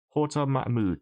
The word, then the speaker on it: Horta Mahmood: I think it's Mahmood. Hang on, let me check that. I believe it's Horta Mahmood. I don't want to get his name wrong because he's a wonderful colorist. Mahmood? Horta Mahmood? Correct? Horta Mahmood, that's right. There we go.